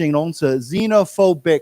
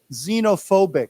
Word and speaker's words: xenophobic: and then let's say it as a sh xenophobic xob xenophobic xob right now this word here is actually